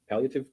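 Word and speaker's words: palliative: The doctor above that psychiatrist is a doctor labeled a palatin care. Paliotative care, I believe it's pronounced.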